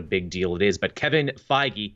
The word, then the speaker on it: Kevin Feige: But Kevin Feige, see, I said it right that time. I didn't call him Kevin Feige.